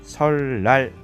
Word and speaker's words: 설날: 어떻게 발음하죠? 설날 발음하죠. 앞에 있는 것에 의해서 뒤에 있는 것이 리을로 교체가 되었습니다.